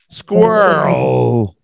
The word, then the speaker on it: squirrel: way back there squirrel yeah just like girl that r l sound girl squirrel no cigar smoking cat